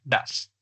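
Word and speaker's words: does: Entonces, escrito do es básicamente se pronuncia das.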